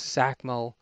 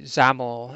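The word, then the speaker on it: XAML: to use the um XM X zacho or sorry zaml as somebody pointed out it should be pronounced uh display function working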